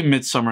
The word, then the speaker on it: Midsommar: And I don't know how you say Midsommar. It's spelled with an O or Midsummer, but they say Midsummer in the movie. So I'm just going to say Midsummer.